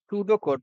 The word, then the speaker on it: pseudocode: सूडो कोड, pronounce सूडो कोड is another way of representing N algorithm.